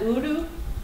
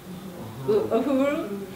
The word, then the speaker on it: Uhuru: You can see Lieutenant, I'm not a Trekkie, is that Uru? Uru, how do you say it? Uhuru.